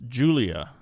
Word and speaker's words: Giulia: It's Julia.